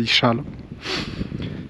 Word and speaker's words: Isalo: la région la région pardon de l'ichal ça s'écrit Isalo Isalo mais on dit on dit ichal Isal ichal c'est le Far West de Madagascar on a